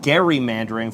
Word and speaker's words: gerrymandering: We are from the birthplace of gerrymandering, actually pronounced gerrymandering from Elbridge Gerry, the governor of Massachusetts, who coined the term.